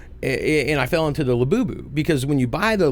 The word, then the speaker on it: Labubu: But, which I always say the fucking name wrong, but the Labobo dolls, Labubu? yeah, okay. Yeah, my 4-year-old, every time I say it, she's like, "It's Labubu." I'm like, got it. But She can't say it right either, so she says Labobo.